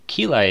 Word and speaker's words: Keili: I don't know how you would put it, Naran, but and I think Keli is also here as well.